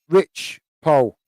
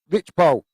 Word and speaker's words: Rich Poe: Re- Re- Rich Poe Sports also saying pronounced Rich Poe. Right, Rich Poe.